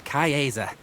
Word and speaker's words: Caesar: i am gaius julius cayeza cayez there is a weird way of pronouncing caesar but it's probably more historically accurate well met this is